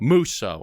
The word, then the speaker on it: Musso: Is it Musso or Musso or Musso? Musso. Okay. Yeah. People have been pronouncing it all kinds of different ways my whole life.